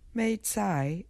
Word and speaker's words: Mei Cai: such as Sichuan pepper corn and star Anis maai is the Chinese pronunciation for mizuna we can take a few